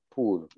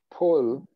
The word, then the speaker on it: pool: Se pronuncia como pool. Pool. Ah. Sí. Pool. Pool. Así es como se pronuncia. No es, ¿ok? Uh-huh. No es como se deletrea. Pull, pull, que es una construcción, es jalar.